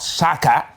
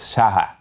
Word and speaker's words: Shaka: i'm getting to understand the real pronunciation that is not shaka is shaha so you see so we're